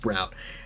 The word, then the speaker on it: Braun: It's spelled Braun, but it's pronounced Brown.